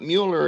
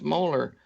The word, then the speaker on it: Mueller: at me for saying it's not Mueller its molar even he says it's molar it's spelled mue ller